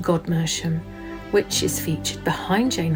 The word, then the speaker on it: Godmersham: to her brother's estate, Gomersham Park, today poshly pronounced Godmersham, which is featured behind